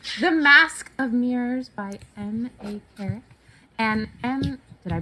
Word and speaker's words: M.A. Carrick: But we are here to celebrate The Mask of Mirrors by MA Carrick. And did I pronounce that correctly?